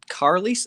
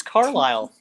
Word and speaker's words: Carlisle: all I could ask Carlie his name is Carlisle you have no you